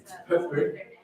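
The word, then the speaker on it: Pöppl: I can also do for Poppl, like you say, Poppl. Yeah, Poppl. It's really difficult. The pronunciation of the L is something like So R, or it's so hard.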